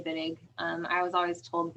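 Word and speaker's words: Wittig: it has a w is the pronunciation with a V sound yeah because it's German okay because I okay yeah I it doesn't really matter um some people say whittig some people say viig um I was always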